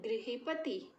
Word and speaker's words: गृही: क्या करते हैं कुछ बच्चे, इस री की मात्रा को र की तरह प्रोनाउंस कर देते हैं, र के जैसे उच्चारण कर देते हैं। जैसे अगर मैं यही शब्द ले लूँ गृही, तो बोलते हैं कुछ बच्चे गृह कार्य।